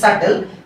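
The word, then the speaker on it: subtle: এটা কিন্তু সাবটেল না এটার উচ্চারণ হচ্ছে সাটেল।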